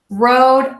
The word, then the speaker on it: Rhode: actually have a video, silent H here. So we would say road, like where you drive your car. Road, I, like my I, or if I were to say I as in myself, Rhode Island.